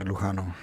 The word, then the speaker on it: Lujano: Actually, if you want to be more specific, it's actually Lujano.